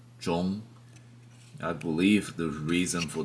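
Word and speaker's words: 中: on his chest, and that word is pronounced zhong.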